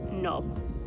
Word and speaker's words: Knob: across to Lord Hereford's Knob. That's what it's called. I'm not going to say that again, I'm just going to call it Lord Hereford's. But it's spelled K-N-O-B, so it's like doorknob.